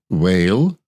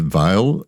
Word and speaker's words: Weil: this brand it's puffum whale w-e-i-l um I just assumed it was a German which I would have pronounced as a veil and but this brand